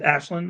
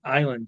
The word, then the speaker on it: Ashland: Joanna, I'm sorry if I said is Ashland. I'm sorry. I always said island. So she probably has been letting me say that and could not corrected me. So thank you for correcting me on that pronunciation, Joanna.